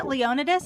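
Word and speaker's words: Leonidas: They really say it Leonodus in the game. Um yeah, it it it threw me off. It threw me off. Um cuz you know it's like uh the Greek um pronunciation of it.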